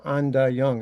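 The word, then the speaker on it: Endaayaang: at this place called Anda Young. It's spelled AIN. It's the first word. The second word is DAH, and the last word is YUNG. It's Ojibwe for our home, and it's in the middle of St.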